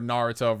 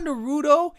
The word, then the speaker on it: Naruto: It's not Naruto. It's Naruto. You know, and I would say it like that. I would say, it's Naruto. I don't like how they call it Naruto, guys.